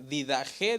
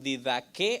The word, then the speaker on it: Didaché: le di esta palabra muchos la pronuncian diferente didajé dicen algunos algunos dicen didaque algunos dicen didaché Así que yo le digo las tres por si alguien que me está viendo dice ahy el pastor no sabe cómo se pronuncia yo escuchado a muchos eruditos pronunciarlo de diferentes maneras okay Y quizá el